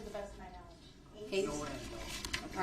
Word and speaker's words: Hayes: Hayes. Is that how you pronounce Hayes?